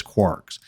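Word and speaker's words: kwargs: and then two asterisks and kwrs which is commonly pronounced as quarks now I'm not going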